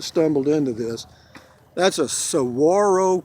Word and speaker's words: saguaro: into this that's a saguaro cactus s-a-g-u-a-r-o pronounced sawarwaro and uh they are